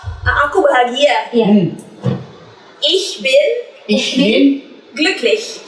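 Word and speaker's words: glücklich: Ada Ar atau aku bahagia Iya ihbin ihin gluklish gluklish tulisannya g l u-nya pakai titik dua cek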